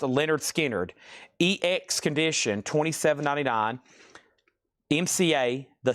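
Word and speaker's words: Lynyrd Skynyrd: Also, Pronounced Leonard Skinnard, EX Condition, $27.99.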